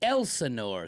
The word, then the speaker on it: Elsinore: I thought that was a silent S. Elsinore. Okay, I think. Elsinore. It is not silent. Okay, It is Elsinore.